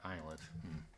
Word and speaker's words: islet: YouTube video shall we says islets or islets I think wait are these maybe there's only one pronunciation islet yeah eyelet okay so anyway you